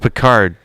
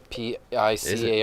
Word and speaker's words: Picard: August Picard. Everyone Google August Picard. Spell it. It's not a porn star. P-I-C-A-R-D. Yeah, like Captain Picard.